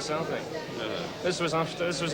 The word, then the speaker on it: Celtic: laughed every time he um every time he pronounced the the thing as as Celtic rather than Celtic this was after this